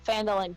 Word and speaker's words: Phandalin: pronounce it? Phandalin. Good people of Phandalin, please listen.